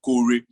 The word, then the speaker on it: Kore: That's the way we pronounce it here in Nigeria. Kore. So Kore is like a mantra of hope, a song for hope.